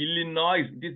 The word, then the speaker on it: Illinois: when I came initially illino is not illino it is Illinois s is silent we India newspapers bomb